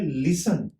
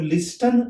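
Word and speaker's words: listen: फिर आता है लिसन, इसमें टी साउंड है, हम लोग लिस्टन नहीं बोलते, और कुछ लोगों को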